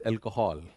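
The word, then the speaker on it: alcohol: अल्कोहल अब यहां पे A एल पे जोर ज्यादा है। ये यूए पे कम है। इट्स नॉट अल्कोहल। अल्कोहल तो दैट इज अल्कोहल।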